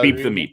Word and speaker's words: Beep the Meep: It is Beep the Meep, yes.